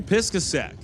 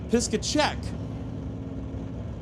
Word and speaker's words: Piskacek: facing off against Brandon Piskasek for Buick Racing. Motoring Canada with Thomas. And as I read the pronunciation listed immediately underneath those sponsors, I'm going to correct myself to Brandon Piskacek.